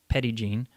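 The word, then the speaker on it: Petit Jean: a petty gene airport excuse the pronunciation my french listeners this is arkansas and we pronounce it petty gene but the petty gene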